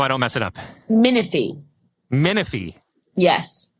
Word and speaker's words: Minifie: last name so I don't mess it up miny miny yes miny Colby freaking miny how the hell are you